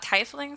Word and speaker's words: Tiefling: I thought Tiefling sounded right. It's Tie, T-I-E. E makes the vowel long, usually, in English.